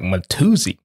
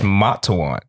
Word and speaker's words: Matuan: He mispronounced it, and it sounded French, and someone was like, Matuzi. All right. It's Matuan, not Matuzi. Matuan. Yes, it's Matuan. So that's from French. No, Matuan is Zulu.